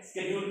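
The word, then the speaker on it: schedule: हाँ, वही जो शेड्यूल है, ब्रिटिश में शेड्यूल कह दिया, अमेरिकन में स्केड्यूल कह दिया, स्पेलिंग सेम है, मतलब ही सेम है।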